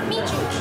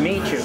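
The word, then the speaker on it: Miju: Michu. Michu.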